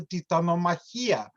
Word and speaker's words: Titanomachy: After the Atlantean's god is rescued, he shares the tale of his capture, tells of the Titanomachia, or Titanomachy, I think it's pronounced in English, and the division of